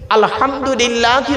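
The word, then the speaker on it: الحمد لله: আলহামদুলিল্লাহি রাব্বিল আলামিন। আলহামদুলিল্লাহি রাব্বিল আলামিন। এই গলার ভেতর থেকে এটা উচ্চারণ করবেন, আলহামদুলিল্লাহ।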